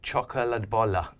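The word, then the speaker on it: chokladboll: And how do you say that? It's Swedish chocoladbolla. I mean, it's.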